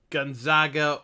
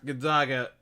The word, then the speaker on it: Gonzaga: So the overall number one seed being Gonzaga, or Gonzaga, the proper pronunciation, but I like saying Gonzaga, so we're going to stick with that.